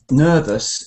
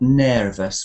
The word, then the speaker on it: nervous: you say nervous um nervous is also the bird sound and it's not a chair sound so not nous but that's like a chair